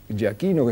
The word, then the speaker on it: Giachino: fuego Enemigo El capitán Ja Aquino jaino es como se pronuncia exactamente su apellido iba al